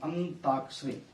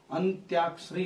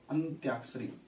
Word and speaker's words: अंत्याक्षरी: है अंताक्षरी बोलते हैं अंताक्षरी अंताक्षरी यह गलत है जो हमने बोला अंता यह शब्द गलत है क्यों गलत है क्योंकि अंताक्षरी नहीं होता अंत्याक्षरी होता है यह भी लगेगा साथ में अंत्याक्षरी यह पेपर में सारे